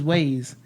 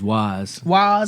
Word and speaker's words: Waze: I use Waze. That's how you say it? Waze. W-A-Z. W-A-Z. Yeah, right? that's the one I I've heard prefer, of. but I thought it was Wise.